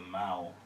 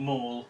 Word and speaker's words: the Mall: I think it was the Mall. That's how you pronounce it. Not Mall, Mal.